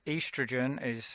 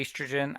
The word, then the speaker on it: estrogen: of the spelling uh estrogen is uh probably better in your mind pronounced earth's region because that's literally what it says and maybe that will help you say bit of a scottish accent sometimes helps with that as well um okay